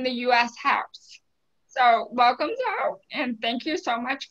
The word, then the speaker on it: Zoe: Is it "," Is that how you pronounce it? Yes and it's actually, it's actually Zoe, not zo-ey.